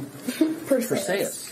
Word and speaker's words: Perseyas: I'm secretly scared I'm going to say your name wrong. For say us.